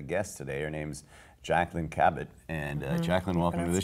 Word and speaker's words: Kabat: multi-talented multifaceted a guest today her name's Jaclyn Cabot and Jacqueline welcome to the show thank you and pronounce my last name right so no like